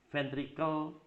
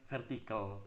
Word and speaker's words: ventricle: Kemudian juga ventricle bukan vertical ya.